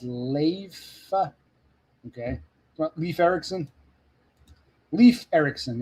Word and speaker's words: Leif: Leaf is pronounced Leif.